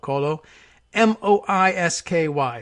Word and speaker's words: Kolomoisky: It's K-O-L-O, Kolo, M-O-I-S-K-Y is how we're transliterating it. How we're pronouncing it for the moment is Kolomoisky.